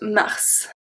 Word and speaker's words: mars: This one, we pronounce every single letter. Mars. Is one of the words with the S at the end that is pronounced.